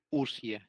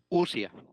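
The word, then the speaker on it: οὐσία: Una breve corrección es usia. Es que en el griego o u se pronuncia como una u. Ya. Ya. Gracias. ¿Cómo se pronuncia? Usia.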